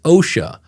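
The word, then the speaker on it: Ausha: It's OSHA cuz it looks like OSHA AU HA.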